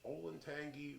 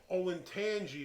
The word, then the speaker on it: Olentangy: and this is from the olentangy river dammit i said it wrong again you did say it wrong again olin tangi river brewing company and they're